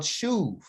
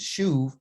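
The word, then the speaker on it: שׁוּב: it's in Hebrew called shuv. And shuv has to do with the idea, it's S-U-B, but it's actually, they pronounce it shuv with a V sound, okay?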